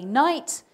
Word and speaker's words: knight: Now, when we say these words, we say night, knee, knife. We don't pronounce the K.